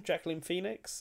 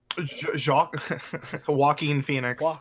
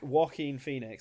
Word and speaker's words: Joaquin Phoenix: Jacqueline Phoenix, is that it? Joaquin Phoenix. Joaquin Phoenix.